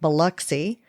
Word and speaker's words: Biloxi: For those familiar with Mississippi, the community is actually Biloxi, pronounced Biloxi. That is with a B and not a V.